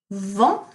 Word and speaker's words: vent: Then, soleil, vent, so we don't pronounce the T, nuage, brouillard, pleu.